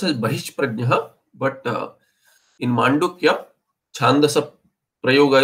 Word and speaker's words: बहिष्प्रज्ञः: So, no, this is actually, it will be bahishprajnah, the visarga preceded by pakara, and fakara has a different pronunciation, but here it will be bahishprajnah.